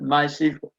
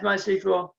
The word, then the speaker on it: MySQL: Besides MySQL, it's very reliable, scalable, and very fast. The official way to actually pronounce MySQL, and I've been saying it all wrong this whole session, is MySQL, not MySQL.